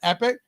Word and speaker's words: EPICK: Plus, I would suggest you guys at the very least download the app EP pi epic ck pronounced epic and just poke around in there if nothing else.